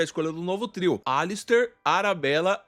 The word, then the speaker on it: Alastair: E eu que finalmente descobri que não se pronuncia Alastair e sim Alister.